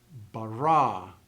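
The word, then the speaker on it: בָּרָא: So in this particular sentence, if I read it slowly, you would pronounce the inflection at the end of the first word, bereshit. The end of the second word, bara.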